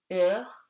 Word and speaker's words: heure: Okay, and something very easy, H is always silent. O, haricot, heure, dehors.